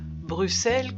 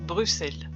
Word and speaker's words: Bruxelles: allons aujourd'hui visiter Bruxelles Bruxelles comme on dit réellement le X se prononce comme 2 S Bruxelles il y a des